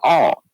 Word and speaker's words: All: But anyway, my actual supervisor told me that it is pronounced all.